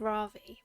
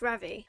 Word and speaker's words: Ravi: saying his name already I've been saying it wrong I keep saying it it's Ravi but it's Ravi I need to get that in my head isn't this the outfit